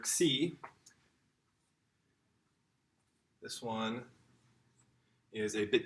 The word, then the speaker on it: xi: After nu, we have a really interesting letter, xi. This one is a bit confusing sometimes. This is the KSI sound, almost like an X.